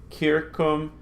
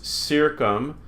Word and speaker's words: circum: So you would want to pronounce this circum and civis. But we're not going to do that. All our C's are always hard. Circum, civis.